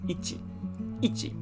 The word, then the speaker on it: 一: and it's just one horizontal stroke usually it's pronounced as ichi the next one i'll just write it underneath